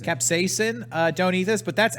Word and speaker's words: capsaicin: to s space sin is that how you pronounce it capsaicin capsaicin don't eat this but that's actually not an